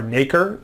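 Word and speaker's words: nacre: of mollusks and uh it's called or naker can be pronounced either way um and here's a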